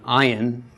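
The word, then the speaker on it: ayin: like this all right the ion is the most difficult letter to pronounce and the sound it makes is very subtle and it has kind of become relegated to a silent letter now most dialects and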